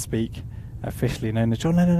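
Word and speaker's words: Speke: And Tom Allen saying, it's pronounced Speak, officially known as John Lennon Airport.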